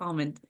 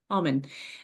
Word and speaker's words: Auman: say that right alen almond dang it it's like almond but without the D Alm well without the l2o technically but it sounds like it almond almond uh thank you for